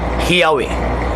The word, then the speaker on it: Yahweh: ng mga Jewish scholars, ang pinakamalapit na pagbigkas sa pangalan po ng Diyos ng mga Hebreo, yung mga schismatiko, yung mga schismatiko naman, yung mga sinasabi nating Shemites, Shematiko pala. Shemites is Yahweh.